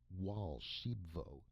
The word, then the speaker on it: Raoul Archambaud: "Stealing eggs from my golden goose and Raoul Archambaud, pronounced Wall Sheep Vo, interrupted excitedly.